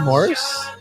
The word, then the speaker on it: Maurice: You know they pronounce it Morris. Morris. Yeah, that's right. Yeah. I always Morris. call him Maurice, but yeah, it's Morris. Yeah, it's Morris. Like the cat.